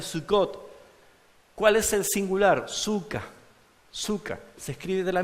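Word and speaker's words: sukka: la fiesta de sucot Cuál es el singular suca suca se escribe de la misma manera s u k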